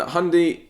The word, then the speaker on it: Hyundai: Isn't hundy... That's kind of how Americans say Hyundai.